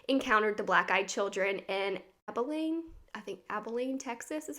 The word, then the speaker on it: Abilene: Another incident, in 1996, Brian Bethel, who was a Texas reporter, encountered the black-eyed children in Abilene, Texas is how you say it.